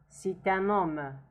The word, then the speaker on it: C'est un homme: Now you see that the T here is pronounced because it's forwarded by U, which is a vowel, and there is kind of lesion between them. C'est un homme. Actually, lesion is for the three words. C'est un homme. It's like pronounced as a, we hear it as if it is one word.